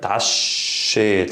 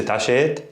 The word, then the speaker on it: تعشيت: Okay, we have a shadde. Shadde is where we emphasize the letter. تعشيت. I don't say تعشيت.